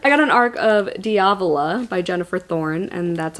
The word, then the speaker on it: Diavola: just say Arc I got an arc of diavola by Jennifer Thorne and that's apparently how you